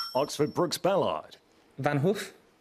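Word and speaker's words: Van Gogh: Oxford Brooks Bellard Vanhoof Van Go. Yes, you're just pronouncing it correctly.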